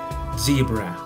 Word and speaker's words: zebra: Tratando de hacer la pronunciación de la Z como un zumbido de una abeja, como se pronuncia la Z en inglés, puedes comenzar siendo un poco exagerado al pronunciar esta palabra, la letra Z, y poco a poco te saldrá de manera más fluida la pronunciación zebra.